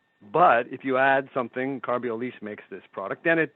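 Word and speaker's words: Carbiolice: It's Carbiolise. Yes. I believe it's pronounced correct.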